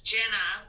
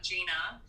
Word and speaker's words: Genah: firstly i just created my name is jenna not gina i got a question